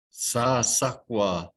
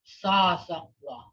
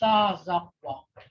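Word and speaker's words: sasakwv: And when you say goose, that's what that is. Sazakwa. That's how you pronounce that. I know it sounds like that town. They say Sasakwa, but this goose here, it's Sazakwa.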